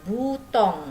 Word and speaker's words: bouton: Nih, butong ya, dibacanya OU jadi U ya.